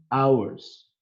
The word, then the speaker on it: hour: Misalnya, an hours, 1 jam. An hours itu kan diawali dengan H, konsonan harusnya. Tapi karena pronounce-nya seperti konsonan, maka digunakan an, jadi an hour.